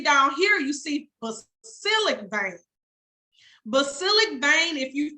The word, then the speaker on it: basilic: cephalic vein second vein of choice basilic it's pronounced basilic b-a-s-i-l-i-c bang that's the third game of choice